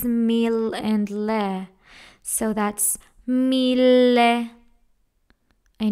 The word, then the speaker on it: mille: that's gonna be meal we have a Double L in here so we have to pronounce it in the syllables meal and lair so that's meal